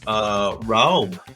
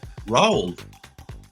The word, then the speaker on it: Roald: I'm going to try to pronounce his first name here. Roald. Roald.